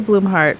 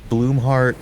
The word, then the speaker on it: Bloomheart: Althea Bloomheart, pleased to make your acquaintance. Says, thank you, Althea. And that's Bloomheart like a plant blooms, and then heart like an organ, right?